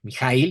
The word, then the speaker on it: Michael: hombre, pues, me corrigieron no es Michael Ende o Mike, es Mijail, dije, pues, Mijail es como ruso, no, pero así lo pronuncian en Alemania, y bueno, pues el